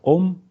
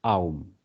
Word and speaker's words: аум: Вот на Западе он говорит, вы, говорит, произносите это сокращенно просто «ом», а правильно он говорит «аум».